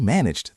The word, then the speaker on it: managed: It ends in a soft G sound, which is voiced. So based on our rule, the ED ending sounds like a D. Managed. Managed. It flows together.